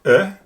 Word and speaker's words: é: So the first A in banana is exactly the same as the E in French, and so is the E in angel.